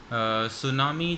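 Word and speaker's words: tsunami: सुनामी जो है ये आप देखें, टी इसका साइलेंट हो गया है और टी एस, इससे यानी कोई साउंड भी नहीं निकलती, तो इसे हम ऑड कॉम्बिनेशन के नाम से भी याद कर सकते हैं। तो सुनामी आप से टी साइलेंट कर देंगे और बाकी पढ़ेंगे।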